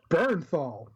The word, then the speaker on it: Bernthal: season and um John birthal how do you pronounce his name barenthal John Bernthal yeah it's like he grunts like the best